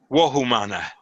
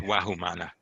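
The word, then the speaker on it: Vohu Manah: key concepts which is wahoo mana or as the older pronunciation is Wow mana good mind you remember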